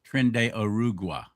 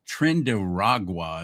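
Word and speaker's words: Tren de Aragua: Yes, you said it correctly. I hear everybody in the media pronouncing it wrong. They say Trenda Trend Ragua is what they've been saying. That's not it.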